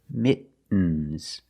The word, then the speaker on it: mittens: These are mittens. Mittens, more commonly, mittens.